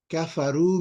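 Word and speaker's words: كفروا: in this one here when you add a wow an alif that alif is just there maybe for separation purposes you don't pronounce it they all wrote okay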